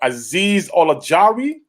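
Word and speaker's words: Azeez Ojulari: At number 18, pardon me if I say his name wrong. Azeez Olajari.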